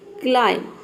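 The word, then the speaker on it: climb: डी आड ठीक है क्लाइम सी एल हो गया क्लाइम बच गया आईम आई एम अब देखिए यहां पे क्लाइम में बी लेटर साइलेंट रहता है बी का जो प्रोनंसिएशन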